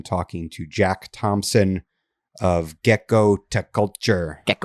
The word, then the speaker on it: Gekkotaculture: I I I say it like her pediculture. That's kind of where I got the name. It's just her pediculture plus gecko equals gecko to culture.